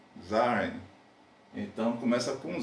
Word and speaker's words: Zahlen: números em alemão, Eu não sei se eu pronuncio correto, mas é Zahlen, Zaren.